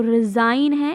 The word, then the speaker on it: resign: and sign okay and the uh s of the sign is not pronounced as s but it will be pronounced like a z okay so resign it it does not